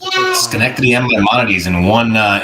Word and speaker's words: Schenectady: and graduated magna laude from Union College in Schenectady New York Dr Schwartz focuses on back pain